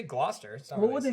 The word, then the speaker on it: Gloucester: phonetic there's always the one that looks like Glo Chester and it's mastered Gloucester Gloucester yeah so you say the C there but you don't say the C here what do you say Gloucester's what was he saying England I lost that